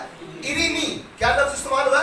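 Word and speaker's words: ειρήνη: के लिए लफ्ज इस्तेमाल हुआ है वो है इरीनी।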